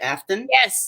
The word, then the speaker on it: Aftyn: Aftyn? Yes, thank you. You hit all the syllables.